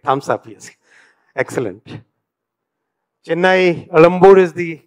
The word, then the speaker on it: Egmore: Chennai, Elambur is the correct way to pronounce, right? Anybody from Tamil? Vanakkam, sir. Elambur is the right way? Not Egmore, na? We should change the spelling also.